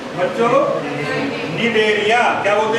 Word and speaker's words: Cnidaria: नाम होता है बच्चों निडेरिया। क्या बोलते हैं इसको? CNIDARIA। इसमें सी साइलेंट रहता है बोलने में।